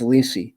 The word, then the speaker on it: Lisey: right about this looks like um the pr pronunciation is ly and um so she's still even after all